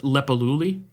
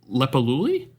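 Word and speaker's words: Leppalúði: I don't know what that character is, but it seems to be pronounced Lepaluli.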